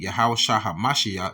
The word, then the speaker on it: Yahawashi: At which point, YAHAWASHI, this is exactly how it's supposed to be pronounced right there in the